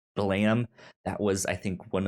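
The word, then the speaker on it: Blame!: spelled b-l-a-m-e-e-e-e with an exclamation mark but it's pronounced blam that was i think one of uh something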